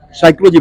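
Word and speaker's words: psychology: जैसे हम साइकोलॉजी बोलते हैं तो पी साइलेंट हो जाता है, आवर बोलते हैं तो एच साउंड होता है।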